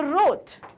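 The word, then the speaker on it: wrote: also B clear okay so there are Sam letter which are silent जिन्हें बोलना कभी भी नहीं है पर स्पेलिंग में हमेशा लिखना है ओके सो विथ दिस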